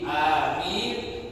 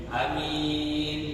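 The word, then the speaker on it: آمين: Adapun yang paling sahih amin bilmadifil mimi dengan dibaca panjang watfil mimi dan diringankan mimnya. Takf ini maksudnya tanpa tasydid mimnya. Menurut pendapat yang pertama ini pendapat yang paling absah katanya bacanya amin dibaca panjang dan mimnya tanpa tasbih wasaniatu. Dan yang menurut bacaan yang kedua yudhab yang kedua bilqasri dengan dibaca pendek berarti amin.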